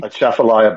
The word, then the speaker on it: Atchafalaya: underneath I'm not going to even try to pronounce the name of it, Basin Bridge. Jody? Atchafalaya Basin Bridge.